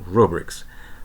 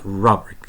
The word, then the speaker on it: rubric: will talk about designing rubrics first a note about pronunciation this word does not have a schwa so we say rubric not robbery it's always rude rubric so once we have